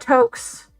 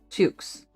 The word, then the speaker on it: toque: how do you say it? Toques? It's not Tokes. Yeah, H&M. They make good winter clothes. Like my thick tights. Tux or Toques? Toques.